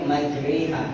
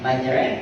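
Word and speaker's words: مجريها: Jadi kalau kita nyebutnya majriha, patokannya cabai, sate, seri, jahe. Sate, majri. Kalau nyebutnya sate, majre, salah lagi. Sate, yang benar sate. Jadi bacanya majri, bukan majre.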